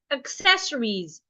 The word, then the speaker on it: accessories: Other examples of words like accessories. Accessories, not accessories. Access. It's a C.